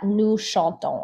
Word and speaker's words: nous chantons: So we never pronounce this S at the end unless the next word begins with a vowel. So nous allons, but nous chantons, or ils parlent versus ils arrivent.